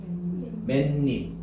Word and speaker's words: 맨입: 맨입. 희한해요. 니은 소리가 발음이 돼요.